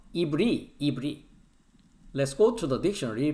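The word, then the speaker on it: עברי: Hebrew here that is the pronunciation of the Hebrew is the ibri Let's go to the dictionary.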